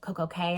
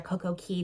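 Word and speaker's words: CocoCay: Royal Caribbean's private islands, Coco Cay or Coco Key, depending on how you want to pronounce it.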